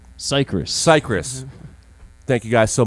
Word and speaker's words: Cicrus: name because I'm going to say it wrong Cypress Cypress thank you guys so much you guys